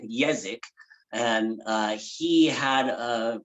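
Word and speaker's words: Jezek: guy named kenny yazic his last name is spelled with the other different pronunciation of the j so it's j e z e k yazak and uh he had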